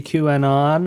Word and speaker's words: QAnon: Don't ever say Q anon. QAnon. You just said it right.